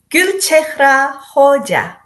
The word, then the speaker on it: Gulchehra Hoja: And give me the full pronunciation of your name as it is. Gulchehra Hoja.